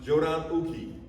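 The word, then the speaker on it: Jōdan uke: It's pronounced Jodan Uki.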